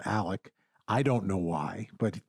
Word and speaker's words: Alex: the small town it's Alec Murdock is his name that's not how he spells it he spells it a-l-e-x but everyone calls him Alec I don't know why